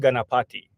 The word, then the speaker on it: Ganapati: But so it's pronounced Ganapati. Ganapati is basically a deity that's supposed to uh, protect travelers, remove obstacles from the road.